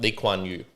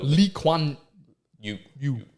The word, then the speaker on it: Lee Kuan Yew: to learn more about Lee Kuan Yew. So Lee Kuan Yew, I believe is how you pronounce it.